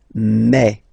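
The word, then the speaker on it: mes: Okay, so for the phonetical or pronunciation aspect of it, then remember that this es here combined will give you the sound eh. Okay, so you'll pronounce it like me, me, me.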